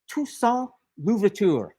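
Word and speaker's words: Toussaint Louverture: His name is Ton Luvur. Tuson Luvur. and I'll spell it for you because he's another one of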